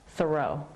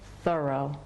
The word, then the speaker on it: Thoreau: say his last name Thoreau I know I know he probably said Thoreau with the accent on the first syllable I just can't always say that easily so I'm gonna be saying Thoreau throughout the whole video